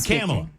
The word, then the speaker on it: Kamala: You sound like Kamala Harris. I was notified that I was saying her name wrong this whole time, by the way.